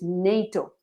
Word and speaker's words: NATO: And remember, in English is NATO, not OTAN.